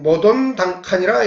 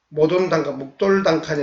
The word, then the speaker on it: 모돈단칸: 그런데 앞으로는 모돈단칸이라 얘기해야 된다. 모돈단칸, 묵돌단칸이 아니고 모돌단칸, 이렇게 새겨야만이 이것이 정확한 한국인의 뿌리와 훈우 제국에 대한 정확한 의미를 갖는 것이다.